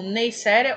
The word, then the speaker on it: Neisseria: as Neisseриas ou Neisseриas, varia muito a forma de pronúncia, principalmente entre os microbiologistas. Então vocês podem ouvir as duas pronúncias e ambas estão corretas, então eu posso me referir como Neisseria ou Neisseриas, tá?